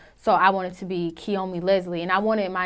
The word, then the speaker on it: Kiyomi: or interviews and they're like what is it Konami and I'm just like it's Kiyomi like ki yo like I'm just I